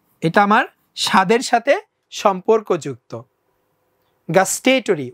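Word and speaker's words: gustatory: test মানে স্বাদ এটা আমার স্বাদের সাথে সম্পর্কযুক্ত গাস্টেটরি উচ্চারণটা আমি বলছি গাস্টেটরি ইমেজারি এটা হচ্ছে গিয়ে টেস্ট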